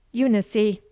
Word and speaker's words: Eunice: as you like selena here we say unicy with the accent on the eye and with the final e sounded unicy let me give